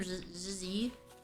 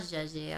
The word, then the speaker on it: Zhezhi: want JY dude zzy how' she pronounce her name zzy it's not JY I'm saying wrong the new character is